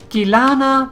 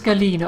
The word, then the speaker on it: Galena: it is deal yeah I keep calling it kalana but it is Galena of course what I'm trying to say it wrong then I say it right because why not this